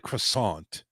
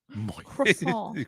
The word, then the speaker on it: croissant: it's kind of like croissant croissant croissant you don't pronounce the T it's cro cro cro